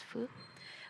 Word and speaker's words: phước: If we look at it culturally or by language, the word phước, that's what we pronounce as in the northern Vietnam as phước. But in southern Vietnamese, it's called phúc.